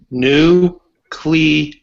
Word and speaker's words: nuclear: just say it man say new clear no three syllables not two I'm not trying to